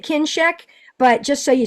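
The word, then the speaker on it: Kinscheck: yeah kinek uh and it's kin check if you're trying to find it k i n s c he c k kin check yeah so I you pronounce it kin check but just so you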